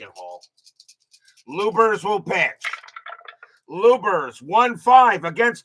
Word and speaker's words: Luebbers: It is pronounced Lubers.